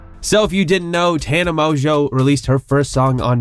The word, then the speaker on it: Tana Mongeau: to get demonetised so if you didn't know Tana mojo released her first song on Monday yes it is pronounced Tana mojo it's not pronounced Tana mangu Tana Mongoose Hanuman geese 9:10 Amazo and it certainly is